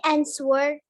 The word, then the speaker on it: answer: She answered the question correctly. Betul, correctly. Hati-hati ya. Answer itu W-nya nggak dibaca. You don't pronounce the W ya.